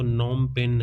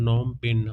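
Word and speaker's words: Phnom Penh: तो नमपेन है दोस्तों। नमपेन। आप इसको नॉमपेन याद रखिए। इसका जो पी है वो आगे फ है वो साइलेंट है।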